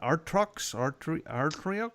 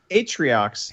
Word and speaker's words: Atriox: And how do you pronounce the baddie, the villain, Artrox? Well, so Atriox. He looks like Pitchin. Yeah, Atriox definitely.